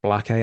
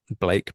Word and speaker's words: Blake: You've got Suchet doing his thing against Black A. I've always pronounced it Blake, but Josh is rubbing off on me at this point.